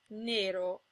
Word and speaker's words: nero: Most of the time, O and E are pronounced closed. O as in ponte, and E as in nero. If the O or the E is in a stressed syllable, it's sometimes pronounced open, O as in donna, and E as in senza.